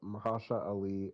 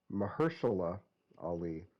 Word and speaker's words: Mahershala Ali: not Because only has it almost gotten canceled, Mahasha Ali, or excuse me, oh my God, Mar, I fucking get his name wrong every time, and I always feel bad about it. Mahershala Ali, thank you.